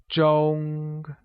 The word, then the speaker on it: 钟: Clock translates to 钟, which is pronounced using a high level tone, like 钟.